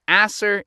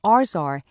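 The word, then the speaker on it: ArsR: So asser is the pump. Dude, be careful how you say it. The protein is called arzar since it's the arsenic repressor protein.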